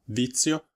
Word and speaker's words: vizio: della pronuncia della parola vizio Ricordate che la Z che trovate in questa parola è molto più simile alla Z al suono Z che conoscete già in pizza per esempio e non è la